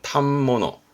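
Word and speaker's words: 反物: 옷감을 파는 가게를 말하는데 발음이 어렵습니다 발음은 탑모노 그래서이 탐버너 자체가 옷감을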